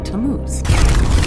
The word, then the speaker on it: Tammuz: His name is Tammuz. Oh, what? Tammuz. It's pronounced Tammuz.